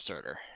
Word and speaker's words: Surtur: Wasn't it daughter of, Daughter of Surtur. yeah. I was like, Serta, but that's not right.